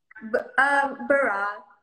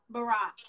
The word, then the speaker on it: Baraah: So, Baraah, and am I saying your name right? Baraah. Baraah.